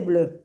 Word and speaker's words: bleu: En Ah, inglés se dice blue, pero en francés se dice bleu, ¿está bien?